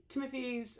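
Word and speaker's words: Timothée: that's all right uh Timothy Shia at or Timote say Timote every now and then because that's supposed to be pronounced that way whatever at age 30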